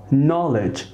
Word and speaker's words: knowledge: knowledge لا ننطق k.